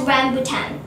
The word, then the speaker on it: rambutan: It is pronounced as rambutan.